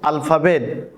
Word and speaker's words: আলিফ: করে দেখাবো আলিফ এ আলিফ উচ্চারণ করার ক্ষেত্রে মুখ দিয়ে বাতাস বের হবে এবং এ হরফটি উচ্চারণ করার সময় টানা যাবে না আলিফ থেকে ইয়া পর্যন্ত